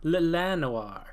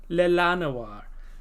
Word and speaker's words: Llanowar: Llanowar. Well, the L is silent. One of them. Llanowar.